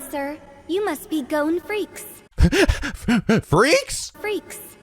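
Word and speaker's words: Freecss: You must be Gon Freaks. Freaks? Freaks. Is that how you pronounce it? I think it was Freesh. I thought. I mean, that's what they said in the Japanese dub.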